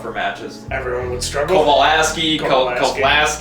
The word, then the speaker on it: Kovalsky: How do you pronounce it? Kovalsky. Kovalsky.